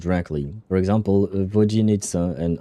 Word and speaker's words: Vodyanitsa: So for Vodyanitsa, you don't want to pronounce the ya. You want to pronounce it ye, I think. Vodyanitsa.